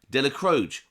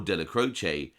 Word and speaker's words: Dellacroce: Dellacroce, or Dellacroce, depending on which pronunciation you prefer, had been Carlo Gambino's underboss in the mid-1960s.